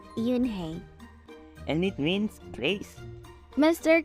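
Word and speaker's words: Unhei: turned to Joey she nodded slowly yes it pronounced Yoon hey and it means Grace Master Kim added Joey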